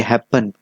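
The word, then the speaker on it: happen: इसलिए जब हम प्रोनाउंसिएशन करते हैं, जैसे कि हैपन, हैपन एच A double P पर ज़्यादा जोर यहाँ पे स्ट्रेस हो रहा है, इसलिए यहाँ पे ये जो लास्ट वाला यन है ये डबल नहीं होगा।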